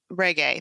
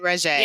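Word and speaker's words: Regé: this well i mean of course reggae that's how you say it right i've heard him say reggae okay well then it's reggae you know because i was saying reggie because that just sounds more you know and there's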